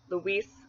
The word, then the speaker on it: Luis: Joaquin, I think, would make a good Luis alternative because they're both the two-syllable names with a stress on the second syllable. Luis, Joaquin, and they both have that strong E sound in it.